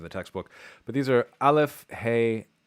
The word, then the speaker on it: Aleph: But these are Aleph, He, Chet, Ein, and Resh, or Resh. Aleph used to be a glottal stop, which is pronounced at the glottis, which is the back of the throat.